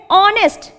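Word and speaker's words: honest: ऑनेस्ट, एच is silent hair, आवाज किससे start हो रही है? ऑनेस्ट से।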